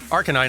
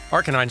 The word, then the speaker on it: Arcanine: a bit yesterday like Arcanine is also not pronounced like the in any way like the two words that are being combined for that name Arcane and canine Arcanine sort of breaks both of those but if you think